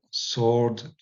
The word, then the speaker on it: sword: Alors attention, on dit plutôt sword plutôt que sword, mais ça s'écrit encore avec un Win qui monte cette racine en vieux Saxon.